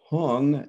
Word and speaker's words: hung: visualization for the prayer it starts with whom which is sanskrit and the tibetans pronounce that as hung h-u-n-g the first line is